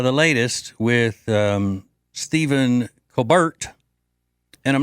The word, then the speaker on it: Colbert: I've heard that's the original pronunciation of his name in South Carolina is Colbert.